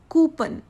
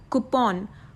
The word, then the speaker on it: coupon: I've seen many people mispronouncing this word as coupon. बहुत से लोग इस वर्ड को कैसे प्रोनाउंस करते हैं? एज कूपन. कूपन is totally the wrong pronunciation of this word. The correct one इज coupon, not coupon but coupon.